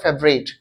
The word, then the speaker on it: favourite: What's your favorite game, FAVOURIT, favorite, FAVOURITE, favorite, फेवराइट होता है इसकी स्पेलिंग, पर इसको प्रोनाउंस करते हैं फेवरेट।